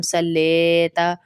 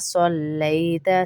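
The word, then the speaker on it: صَلَّيْتَ: اب اگلا دیکھ لیجئے، یہاں پر بھی ہم صاد کی جگہ سین پڑھ دیتے ہیں، اور حروف لین ہے لئی، لئی جیسے جلدی سے پڑھتے تو ہم سلیتا، سلیتا، لئی، کھینچنا بھی نہیں ہے، جلدی اور نرمی سے پڑھیں گے۔ کما صلیتا، سلیتا نہیں پڑھیں گے، سین کی آواز نہ آئے۔ کما صلیتا، کما صلیتا،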